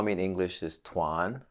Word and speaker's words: Tuan: she's like no his name is Tuan right Miss Davis she said his name is it was the first time that I was like okay maybe this is how Americans say my should say my name you know so from that point on I always introduce myself as Twan Swan and that's how